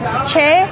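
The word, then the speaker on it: Choi: Actually, fun fact, you pronounce my name like ch, not choy, even though it's spelled ch h o o i. And I always say think of it as like cha tina cha.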